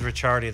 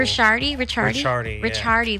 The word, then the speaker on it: Ricchiardi: My last name's Ricchiardi though, but that's Blake PD's cool. Ricchiardi.